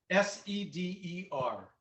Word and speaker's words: seder: right sata well the seder is the and spell that s-e-d-e-r got it okay but it's the the first